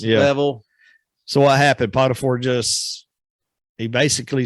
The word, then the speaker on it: Potiphar: Potiphar.